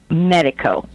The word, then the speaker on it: Miedico: messing up your name can you correct my pronunciation medical medical it's just like a medical person well then that's kind